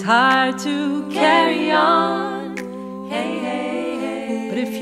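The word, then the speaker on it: Å: Une seule lettre, A, avec ce petit rond au-dessus qui fait qu'on le prononce O.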